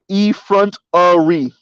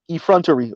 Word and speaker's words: effrontery: car right okay so intrell says it's pronounced e front Ari effrontery okay y'all taught me